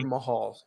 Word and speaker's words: Jinder Mahal: hope I say his name right, Ricochet versus Jinder Mahal or whatever his name is next week is going to be for the belt. And I know I said his name wrong, Logan. You correct me. Jinder Mahal.